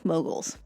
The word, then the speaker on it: Mughals: the mobile Empire well it's spelled with a u it's pronounced like an O moguls and this is a